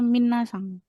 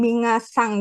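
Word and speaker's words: みなさん: Kalau si ee kalau misalnya vokal yang dipan eh di tengah-tengah kayak minasang kan ada N A S A N. Berarti bukan mingasang gitu kan? Bukan minasang. Ng-nya di belakang.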